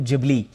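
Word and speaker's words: Ghibli: कुछ लोग गिबली भी कह रहे हैं, कुछ लोग जिबली भी कह रहे हैं। हम जो जापानीज़ जो करेक्ट प्रोनाउंसिएशन है और ख़ास तौर से जो मियाज़ाकी साहब इस्तेमाल करते हैं, मैं उसी का इस्तेमाल कर रहा हूँ, जिबली।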